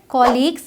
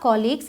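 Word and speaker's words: colleagues: ये जो मैंने कहा कॉलीग्स, इसकी प्रोनाउंसिएशन पर आपको ध्यान रखना है। बहुत सारे लोग बोलते हैं कुलीग्स या फिर कलीग्स, लेकिन जैसे आप कॉलेज बोलते हैं उसी तरीके से कॉलीग्स बोलना है, ध्यान रखिएगा।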